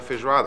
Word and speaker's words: feijoada: I think we're going to have a feijoada.